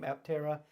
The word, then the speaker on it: Aptera: by the way let's talk about the name aptera if you're watching one of these videos and